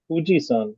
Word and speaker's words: Fuji: to type this but the actual pronunciation the way the Japanese pronounce it is somewhere between Fu and hu so it sounds more